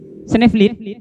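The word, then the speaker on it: Sneevliet: Benar kak bacanya ya? Sneeuwwit.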